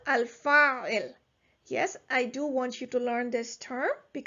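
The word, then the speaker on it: الفاعل: the verb, is called al-fa'il. You can also continue and pronounce this haraka at the end, the vowel sign at the end, and you can say al-fa'ilu.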